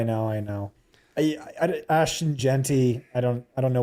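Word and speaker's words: Ashton Jeanty: Scott, the chat does not like how you pronounce Ashen Genty. I know. I know. I know. I I Ashton Genty.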